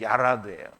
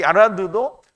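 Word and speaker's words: ירד: 여기는 야라드예요. 여기는 이제 레시는 그냥 레 발음이 나고요. 여기는 좀 굴러가는 르스 발음이 나요. 그래서 얄라드, 야라드인데요. 이 야라드도 하나님이 친히 내려오실 때에도 야라드라는 단어를 썼는데요.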